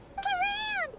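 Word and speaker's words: Clorinde: So that's how you pronounce her name. Talking about us? Clorand!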